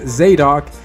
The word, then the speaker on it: Zadok: It's a big 10-page fight scene between the hero Zadok, pronounced Zadok, and the monstrous villain Deathmonger.